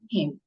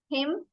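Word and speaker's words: hymn: h y m n him okay there is another word which is pronounced uh same as him h y MN is also pronounced as him but it has different spelling as you can see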